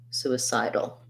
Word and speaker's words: suicidal: side first syllable stress and suicidal for suicidal second stress on the side so suicide suicidal um yes those are